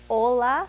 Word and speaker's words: Hola: way to impress is instead of saying Hola May it's Ola the H's are silence that's right Ola May